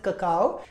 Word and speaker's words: cacao: इज ककाओ so basically if यू see this word this is pronounced as ककाओ now this word is